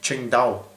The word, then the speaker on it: Tsingtao: something completely different but I looked at how you pronounce it on the internet and it's pronounced Ching da so there you go